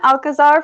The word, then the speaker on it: Alcazar: today we have one alcazar from jc5 productions I hope I said your last name right by the way yeah that's the right way to say it and he has been